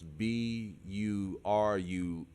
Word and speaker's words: Burundi: over there in breunia uh i hope i pronounced that right it's b-u-r-u-n-d-i so burundi is like the poorest country in